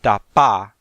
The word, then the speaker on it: dapa: When one of these letters is written double, as in the word dapa, it's pronounced twice as long.